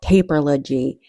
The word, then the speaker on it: Taperlogy: I'm saying it just how it's spelled, Taperlogy.